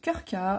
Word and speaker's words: Krka: le parc national de Krka. Alors c'est imprononçable. Enfin, si ça se prononce Krka, mais quand on le lit, on se dit mais comment je vais prononcer ce truc?